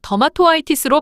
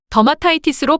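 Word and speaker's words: dermatitis: 모음 오가 생략됩니다 그래서 더마토 it으로 발음하지 않고 더마타이티스로 발음됩니다 반면 전미사가 자음으로 시작하는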